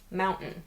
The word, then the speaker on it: mountain: Instead, we say, “impor’nt,” “wri’n,” “moun’n.”